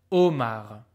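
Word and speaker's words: homard: lobster is oh Oar you don't hear the H at all you just hear the sound o Omar e e new vo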